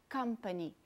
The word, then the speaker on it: company: Então, por exemplo, a bolinha maior em company mostra que a primeira sílaba é a sílaba tônica, é a que você tem que intensificar, company.